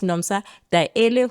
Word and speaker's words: Daele: The whole time we've been mispronouncing the names, and that's why I'm saying very important that I pronounce them appropriately. So it is Miss Nomsa Daele, who is the senior team leader at WaterCAN.